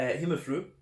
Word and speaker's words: Himmelfryd: this was the um Hymn of fruit uh him a fruit to give it the Danish pronunciation a Pilsner beer at